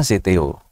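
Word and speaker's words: ζητέω: adalah kata zeteo ya ini membacanya zteo Ini adalah kata kerja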